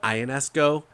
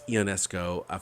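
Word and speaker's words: Ionescu: I've always pronounced it Ionesco, but I believe it's Ionesco from what I've heard from pundits on Sports Radio Talk.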